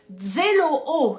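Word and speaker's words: ζηλόω: Cela vient de la racine grecque zéloo, ça s'écrit Z-E-L-O-O, zéloo, je trouve ce mot très joli, amen, on se dirait en francophonie, oh, zéloo, avoir donc un zèle ardent.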